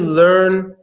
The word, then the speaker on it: learn: lot of people say lad I'm land actually learn is one sound with the EA is not